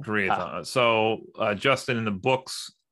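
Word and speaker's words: Karaethon: and then you were mentioning the I'm gonna pronounce it wrong the Kian cycle how do you say it is that it was something like Kian in the audio books it's kathon cycle kathon so Justin in the books they will very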